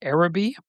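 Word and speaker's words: Araby: By the way, it's pronounced Arabi.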